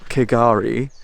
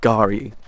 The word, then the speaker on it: K'Gari: saying it all wrong so it's not kigari the K is is silent and it's Gary Island this is Lake McKenzie